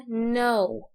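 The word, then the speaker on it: know: نيجي هنا ليعرف، يعني الكي دي مش بتتنطق فنقولها no، يعني دي بتتنطق باسمها، نقول no مش no.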